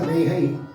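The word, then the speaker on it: ரேகை: There is, it's pronounced as Rehai, but there is no ha here, so we write as ka. It is written as Rekai, read as Rehai.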